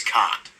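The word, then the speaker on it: Kuat: to pronounce that right it's KU a t I think it's cot cot Drive yards as the sister ship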